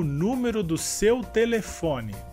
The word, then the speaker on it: telefone: Em português seria telefone. A sílaba mais forte nessa palavra em espanhol seria le, e em português seria fo.